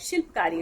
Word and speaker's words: Shilpkari: इफ आई लेट me know if आई am pronouncing it right, शिल्पकारी, right?